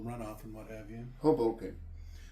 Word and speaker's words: Hoboken: Hoboken. That's what I said. Haboken. If you want to butcher it, you could say it that way. Just sounds like it sounds like you're saying it wrong, even when you're saying it right.